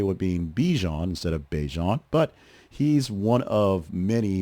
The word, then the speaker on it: Bijan: Similar confusion for him, as Robinson said his first name is technically pronounced Bijan. Bijan. Bijan. But basically fans call him Bijan, like Dijon.